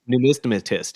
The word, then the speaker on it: numismatist: Numismatist. Is that right? Numismatist. Yes, I think that's the right pronunciation.